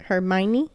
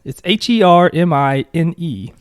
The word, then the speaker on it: Hermine: Is it Hermione? It's Hermine. So it's kind of like Hermione, but without the O.